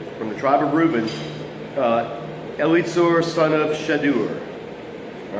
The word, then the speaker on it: Elizur: But for weird names, always pronounce the I's an I or an E. Pronounce every vowel. And what you'll get is Elizur, son of Shedeur.